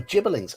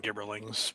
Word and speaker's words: gibberling: I always called them gibberlings, but I was going with the soft G myself. Yeah, I'm a soft G person.